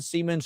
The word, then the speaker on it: Siemens: Whether that means there was somebody within Siemens who sold them to someone on the black market, handed them over. Believe it or not, you're pronouncing Siemens correctly.